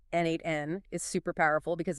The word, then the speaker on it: N8N: Tools like N8N, that's spelled N8N. Natn is super powerful because